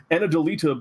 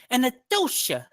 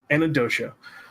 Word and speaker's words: Anadolita: We have Anadolita Bluebeads. Did I say that right, Anadolita? Well, it should be pronounced Anadolita Bluebeads. Anadolita. Did I say it right that time? Yes, Pete. And- yes. Anadolita.